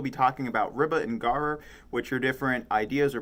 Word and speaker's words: gharar: And then the second topic is gharar. Sorry I'm not pronouncing it right. I was not born speaking Arabic, but if you were to pronounce it with an English dialect, that's how it is. It's Gharar.